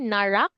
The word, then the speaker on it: Narak: is n narak okay did I did I pronounce it properly narak your name is narak right yes okay so